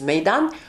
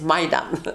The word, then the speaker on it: Meydan: No, I mean the way we pronounce it is Meydan, but the European languages in France, they took it as Maidan.